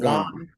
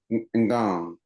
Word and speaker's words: Ngong: And I know you said, is it, how you pronounce it again? Is it Guan? Gong. Ngong.